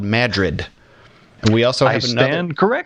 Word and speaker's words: Madrid: is spelled like Madrid we use famous cities or states here and pronounce them incorrectly so it's called Madrid and we also have